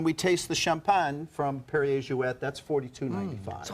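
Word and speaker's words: Perrier-Jouët: and as I said, it's Perrier Jouet, because it was Monsieur Perrier and Madame Jouet. She was from Holland, so it's a Dutch name.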